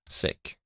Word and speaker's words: Sikh: Because we were debating, is it pronounced Sikh or Sikh? Sikh. Okay, right. He taught me. It's Sikh.